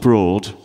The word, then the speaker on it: Broad: It's spelt Broad, but it's pronounced Broad for some reason.